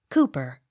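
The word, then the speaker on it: Cowper: s coots c o w p e r cooper d a l z i e l dl accent on first syllable d e r b y darby d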